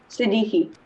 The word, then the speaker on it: Siddiqui: Siddiqui.